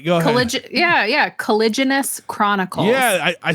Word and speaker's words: Caliginous: you all right go ahead collig yeah yeah collagenous Chronicles yeah I I spelled it phonetically on my paper here you have to